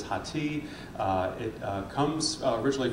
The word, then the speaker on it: Hathi: do you pronounce it is it hottie like uh you know like the Chili Peppers on Rate My Professor and I always have say no it is not it is hati uh it uh comes